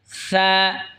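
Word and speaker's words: ثاء: সা জিহ্বার আগা সামনের ওপরের দুই দাঁতের আগার সঙ্গে লাগা উচ্চারণ হবে সা, নরম হবে সা।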